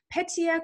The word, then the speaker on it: Petia: i listened to it to get the correct pronunciation and then it was like petya i'm like oh i like that